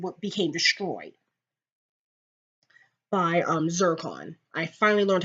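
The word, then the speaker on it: Zarkon: alts Han did what became destroyed by um zircon I finally learned how to say his name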